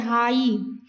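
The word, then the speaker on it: high: हम इसको क्या बोलते हैं? हाई. तो हाई HI बोल रहे हैं. GH तो साइलेंट है.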